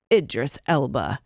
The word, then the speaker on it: Idris Elba: "My name is Elba, Idris Elba." Oh, he's doing it then, right? Two Sounds like things. it. One, he's doing it. And two, he's showing us how to pronounce his name.